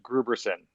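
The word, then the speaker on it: Grooberson: Gruberson. That's the correct pronunciation of his name.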